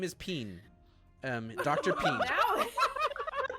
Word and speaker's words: Pean: Peen. No, Okay. P-E-A-N. Dr. Peen. It Okay. doesn't make a difference in the pronunciation, Monk, which is where the problem lies.